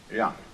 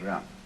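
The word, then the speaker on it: 仁: In Confucius philosophy, the fundamental virtue of a human being is called yang, spelled Jen for reasons best known to Chinese scholars. I don't know what they are, but it's pronounced yang.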